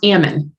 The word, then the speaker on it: Ammon: um my surname or my last name is pronounced ammon uh so pretty easy but uh can be